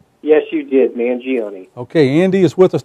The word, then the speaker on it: Mangione: andy um mingioni is that right did i pronounce that right yes you did mangione okay andy is with us tonight he's also